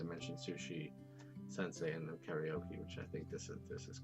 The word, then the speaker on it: karaoke: They mentioned sushi, sensei, and then karaoke, which I think this is karaoke.